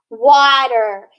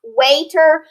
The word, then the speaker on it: water: at the first word how do we correctly pronounce this word water if we were following our decoding skills though it would be pronounced waiter but we have to use that exception water great job what about